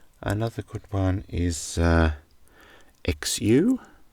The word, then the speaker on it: xu: And uh another one, another good one is uh XU, which is pronounced Chu, which is a Vietnamese monetary unit.